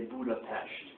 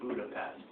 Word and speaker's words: Budapest: Just like people will try and get you to say Budapest instead of Budapest. I'm sorry, I don't speak Hungarian. An S is pronounced like an S.